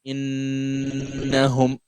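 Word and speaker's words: إِنَّهُمْ: You pronounce it as if the noon is two, right? The first one is having sukun, the second one is having fatha. So this is gonna be innahum.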